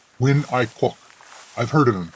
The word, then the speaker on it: Nguyễn Ái Quốc: I read some articles about this young firebrand named Nguyen A. Kwok. He's a Chinaman who studied in Paris, if I remember correctly. It's pronounced Nguyễn Ái Quốc.